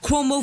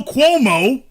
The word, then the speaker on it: Cuomo: isn't it hell no Cuomo oh what an unfortunate last name that it rhymes with hell no oh this is awkward